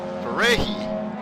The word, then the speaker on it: Ferreira: In no man's land is Fernando Ferreira. Ferrehi, I do believe that's pronounced.